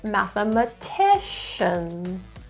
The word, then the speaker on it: mathematician: Stress is in the fourth syllable, mathematician.